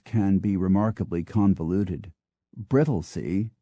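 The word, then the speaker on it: Brightlingsea: be remarkably convol uted brittley spelled b r i g h t l i n g e a according to pH reies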